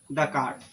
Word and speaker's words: Descartes: उस तरह यहाँ पे ये वाला का है एस साइलेंट है, ठीक है ना। इसको बने रेने डेकार्ड, ठीक है।